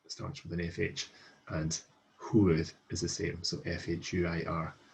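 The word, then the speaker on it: fhuair: In the past tense, however, we have an dŵr, hwyr, cha dŵr. So hwyr is one of the three main exceptions where FH is pronounced with an H sound.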